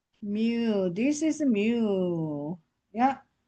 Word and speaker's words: mu: So we call the mu me. This is mu. Yeah. Mu like a cow. Cow cow sounds.